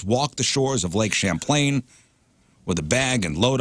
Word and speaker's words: Champlain: to say I it wanted to say wrong champagne. by saying it right. Champlain.